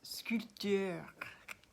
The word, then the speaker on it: sculpteur: call myself a sculptor, which in French is very difficult to pronounce. Sculpteur, I would say, and they'd say, oh, you drive a scooter. I think, no, sculpteur. And they say, oh, you sew, which is couture. It's like, no, sculpture.